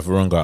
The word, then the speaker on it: Virunga: And how do you pronounce that? Virunga? Yeah, Virunga.